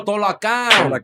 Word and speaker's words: Talokan: How do you say it? Talokan? I don't know how to It's pronounce it. Taklon? No, Talokan.